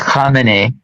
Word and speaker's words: Khamenei: To what you said earlier about, by the way, Sabi is pronounced Khamenei, but anyway, Khamenei is, first of all, he's not ethnic Persian.